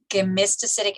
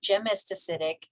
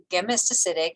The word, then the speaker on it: gemistocytic: Okay, gemistocytic astrocytes, hard G. It is not gemistocytic, it is gemistocytic.